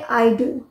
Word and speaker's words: idol: meaning होता है आदर्श जबकि आई डी ओ एल ये है आइडल आइडल इसका यूज एज